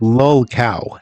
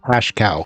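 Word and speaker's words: lolcow: because they see what that's actually pronounced LOL cow not hash cow L cow I am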